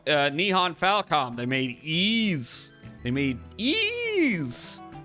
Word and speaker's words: Ys: But no, uh Nihon Falcom, they made ease. They made ease. They made ease. A game that took me many years to figure out how to pronounce.